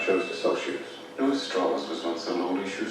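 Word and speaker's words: Strauss: Goron who's kill it Mr straws is pronounced straws I've gone back and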